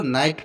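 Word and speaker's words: know: बाद बबल आया है तो यहां पर भी इसको के का उच्चारण नहीं होगा नो पढ़ते हैं नेक्स्ट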